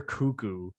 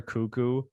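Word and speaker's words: Koekkoek: it might be slater cuckoo how are you pronouncing that yeah you know what when i hear it out loud i'm like yeah it's cuckoo which is how i read it so yeah laporte cameron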